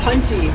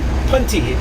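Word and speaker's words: pontil: Which has sort of left me with almost a punty, which means point in Italian. Punty. Hey, a punty. It's spelled P-O-N-T-I-L.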